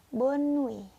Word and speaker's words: bonne nuit: Tulisannya bonne nuit, tapi kalian bacanya bonne nuit.